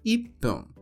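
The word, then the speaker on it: いっぷん: de minutos e também do número um que normalmente dizemos it mas que Neste contexto é tirada a sílaba ti e inserido o pequeno tu indicando a necessidade da pausa rápida ficando ipum em seguida temos nium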